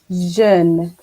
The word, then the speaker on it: jeune: You need to remember, for those who are watching, EU is E and AU is O.